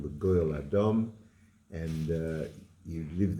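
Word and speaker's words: Gad: Um I I we pronounce it God because of the the vow underneath.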